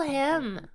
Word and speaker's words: Hymn: Ble him. I always had trouble pronouncing him.